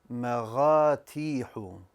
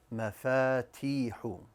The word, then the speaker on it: مفاتيح: مغاتيح. مغاتيح. Did you find the mistake? It is in the second letter. I pronounced the fa as a ghain. It should be مفاتيح.